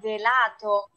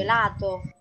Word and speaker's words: gelato: Tapi kebanyakan orang Indonesia ngomongnya gelato. Nah, harusnya Sì. gelato.